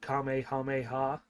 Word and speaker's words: Kamehameha: it will come up the proper way to say Kamehameha or Kamehameha it's both both are correct in Japanese they say it Kamehameha um we recognize that